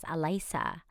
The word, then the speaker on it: Alyssa: Like Al because in the Philippines, the way that it's spelled Alyssa is Alisa, right?